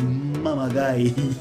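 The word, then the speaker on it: mamaguy: And today's word is mama guy. Yes, mama guy, and it is spelled M-A-M-A-G-U-Y, and it means to trick someone, a trickster.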